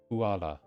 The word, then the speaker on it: コアラ: From what I've seen in katakana so far, a lot of the time the R's are used to be L's. Which kind of makes sense, but it's weird to see it and then try to pronounce it. And I want to say the R, because I've been learning it like that. And then they're just like, no, that's actually an L today.